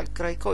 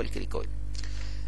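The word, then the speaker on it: cricoid: كارتليج كان في كريكو لكن النطق الصحيح بتاعها الكراكو لكن النطق المشهور اللي هو الكريك وتحت منهم التركيه هذه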